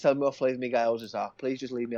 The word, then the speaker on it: gyoza: Gyoza. It's GY. There's no U in it. Gyoza.